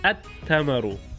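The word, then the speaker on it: التمر: And then if I make it definite, it'll be at tamaru, and the al disappears, just like how moon disappears.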